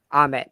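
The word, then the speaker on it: Ammit: uh you know culture and religion uh with ahmed uh and her avatars believe it's a her right am i correct about that i'm it yeah ahmed yeah it's a-m-m-i-t um it's an e but it's pronounced as an a i don't know why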